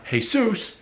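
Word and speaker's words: Jesús: but if the guy is Mexican and it's pronounced hey soos then there's nothing funny it's accepted like wait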